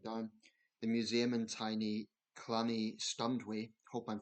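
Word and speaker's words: Llanystumdwy: The museum in tiny Clanny Stundway, hope I'm pronouncing that correct. I think in Welsh the two L's is a cl sound, so I hope I'm pronouncing that right.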